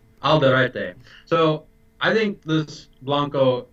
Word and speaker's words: Alderete: now you have to help me with the pronunciation of the brand name again. Alderete. Alderete.